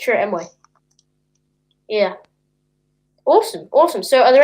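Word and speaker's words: Chirrut Îmwe: I think I can't pronounce his name. Yeah, it's Chirrut Emway.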